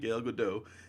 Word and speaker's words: Gal Gadot: Wayne / the Batman Gil gadot and yesterday pronounced yoga that night gal gadot gal gadot she has nailed it as Wonder